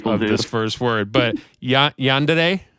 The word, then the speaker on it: Yandere: But now it's but now you have this new band, and I might butcher the pronunciation of this first word, but Yandere, right?